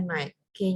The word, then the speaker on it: knight: kyg itu pisau naik tulisannya Knight Tapi bacanya Nike nya tidak usah dibaca begitu SMEA dan ada satu